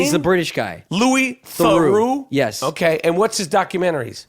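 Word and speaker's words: Louis Theroux: his name is says yes that's how he pronounce his name he's the British guy Lou THU okay and what's his documentaries well I saw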